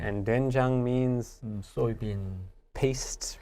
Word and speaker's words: 된장: So in our first syllable, 네, it looks like OE, 네. looks like doin, 네. but pronunciation becomes duen, 된, doenjang.